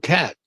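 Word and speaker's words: qat: can grow uh that's called cat and cat is spelled q a t.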